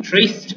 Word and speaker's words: tryst: Okay, first one, Tryst. Okay, this word is bit much tricky. That's like, but here the pronunciation is easy.